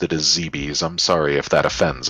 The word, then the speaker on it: Zebes: I've always pronounced it as ZBs.